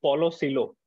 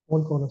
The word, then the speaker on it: Paulo Coelho: You mentioned that you have read Paulo Coelho. Paul Coelho, sir. Paul Coelho, okay. So that is how you pronounce it. I stand corrected.